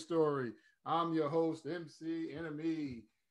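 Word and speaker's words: Iname: I'm your host, MC Enemy. It's spelled I-N-A-M-E because it's not about me.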